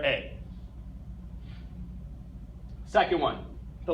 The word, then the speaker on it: E: the letter e a the letter E in German is pronounced a okay and we'll I'll